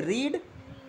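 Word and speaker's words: read: English क्या होती है, रीड या स्टडी, दो होती है ना, दोनों का मतलब क्या होता है, पढ़ना, है ना। अगर रीड का फॉर्म देखें तो रीड, रेड, रेड, मतलब स्पेलिंग सेम रहेगा,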